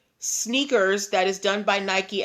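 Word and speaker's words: SNKRS: and the app is called sneakers but it's spelled s n k RS okay s NK RS so sneakers without any of the vowels and Nike has filed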